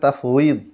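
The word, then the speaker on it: تفويض: এটা তাফউইদ, ওয়াও ইয়া দদ উচ্চারণ হয়, বাংলাতে তালাকে তাহবিজ বলে, তহবিজ বলে।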